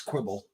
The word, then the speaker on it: Quibble: I mean, we've learned to say it correctly, right? It's Quibble.